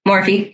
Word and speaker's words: Morphe: It's by Morph. I think that's how you say it. Morph. There might be an E on the end. Morphe. Yeah. Morphe. Yes.